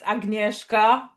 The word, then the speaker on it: Agnieszka: So it's pronounced Agnieszka, Okay.